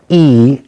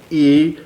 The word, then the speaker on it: y: is called e e it's spelled like the letter y but it's just pronounced e so i am sick e and my throat hurts